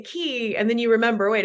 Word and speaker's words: Quay: And my mom and I joined forces and started Key Entertainment, which is spelled Quay, like Quay.